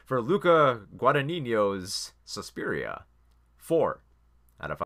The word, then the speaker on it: Guadagnino: soon so for uh for Lucca let me pronounce this correctly for Luca Guadagnino 'he's Suspiria four out of